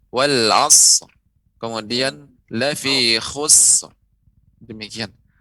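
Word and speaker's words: العصر: Tinggal sedikit tadi cuman wal 'asr. Itu dipanjangkan wal 'asr.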